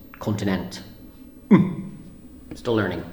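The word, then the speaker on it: Continente: the local supermarket called I thought it was called continent a continent II but the e at the end is silent so it's just continent I'm still learning it's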